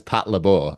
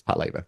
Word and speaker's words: Patlabor: manga UK VHS and the narrator says Pat Labbor and I think that threw off so many people cuz it's not obviously it's Pat Labour but yeah it